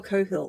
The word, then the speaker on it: Coghill: I'm going to pronounce her surname Annie. as Coghill. So Nikki Coghill. I I don't know if it's Coghill or Cohill. But the Coghill. character is Annie. Every other person who I've seen with that surname pronounces it as Coghill. So Okay, we're going cool. to say Coghill. We'll go with that.